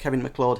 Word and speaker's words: MacLeod: there's definitely something did involve its Kevin MacLeod's mcclure how he pronounced his name his music is used in